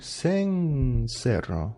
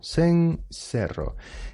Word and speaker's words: cencerro: Esto también, ojo a la pronunciación, va con C. Cencerro. Diría alguien de la España peninsular, ¿sí? O de Baleares. Pero en el resto del mundo hispanohablante, los que seamos, cencerro.